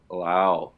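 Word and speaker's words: Lowe: I got my boy Brandon Lau. Not Low. Lau.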